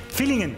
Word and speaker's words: Villingen: Naissance à Villingen, je prononce bien ? Feeling. Feeling. Oui, feeling. Fillingen.